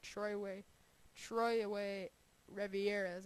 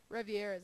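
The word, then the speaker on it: Trois-Rivières: Troy Rivieres, I believe is how you pronounce it. Rivieres, I finally got that part down.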